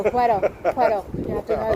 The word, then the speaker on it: puedo: It's pronunciated Wedo. No, Puedo.